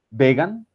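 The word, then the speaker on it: Vigen: este señor eh Tyler Vegan, eh se pronuncia vegan.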